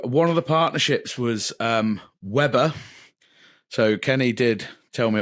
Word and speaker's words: Weber: He goes, "It's bloody Weber, you twat."